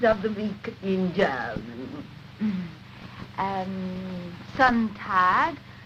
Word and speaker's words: Sonntag: Sonntag, Montag, Dienstag, Mittwoch. That is good, but pronounce the words broader, so Sonntag, Montag, Dienstag, yes?